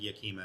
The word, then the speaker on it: Yakima: I think it's I think Yakima is how you say it, but it's out of the the Washington State area.